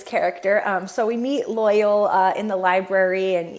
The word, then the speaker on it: Loial: i grew up calling him loyal or like loyal with the emphasis on the second one the entire time i think i was wrong the whole time because they say loyal in the show and i looked back in